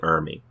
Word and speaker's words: Ermey: to say the last name it's r lee ermey last i saw them goblins was tearing into